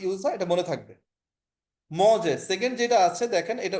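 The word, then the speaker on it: mangé: মজে সেকেন্ড যেটা আছে দেখেন, এটা উচ্চারণটা হচ্ছে মজে, মানে হচ্ছে খেয়েছে।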